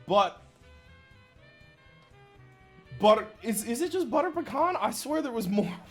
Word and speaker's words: pecan: I don't like the way you say pecan. That's how it's said. Here's the thing. If you say pecan or pecan or anything else, a southerner gets mad at you. It's pecan.